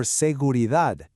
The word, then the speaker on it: seguridad: And it's the same thing for seguridad. The power is all the way at the end. Seguridad.